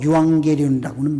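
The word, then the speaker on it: εὐαγγέλιον: 헬라어로 유앙게리온이라고는 말로 발음을 하는데 이 말은 좋은 소식, 영어로 good news죠.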